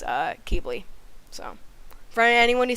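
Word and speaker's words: Qibli: with an American accent because it can be pronounced uh kibbly or kibly it's depending on where you're it's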